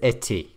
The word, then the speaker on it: étaient: So then we've got j'étais, tu étais, il était, nous étions, vous étiez, ils étaient. Which again, you don't pronounce the ENT on the end.